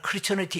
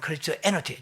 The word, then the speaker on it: 크리스티애너티: 기독교를 크리스티애너티, 보통 뭐 말하기를 크리스천리티 이렇게 하는데, 정확히 말하면 크리스티애너티, 저도 뭐 정확한 발음은 안 되면 크리스티애너티예요.